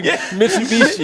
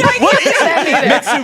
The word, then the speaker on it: Mitsubishi: So, you can say all the all the hockey names, but you can't say Mishubishi. Mitsubishi.